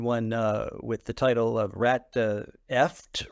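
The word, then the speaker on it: Ratfucked: I had written one with the title of Rat Eft Rhymes with Duct.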